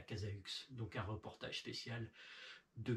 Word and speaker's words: Cazaux: Il y en a qui disent Bordeaux, hein, mais ça s'écrit Bordeaux-Aux, donc c'est à côté de Cazaux. Hein. Cazo, pour ceux qui n'avaient pas compris, hein, parce